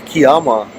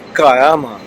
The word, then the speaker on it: Kiama: First couple of minutes of my video I said Kiama, but it's actually Kiama, so excuse me, and rest of the video I'll have Kiama in the pronunciation.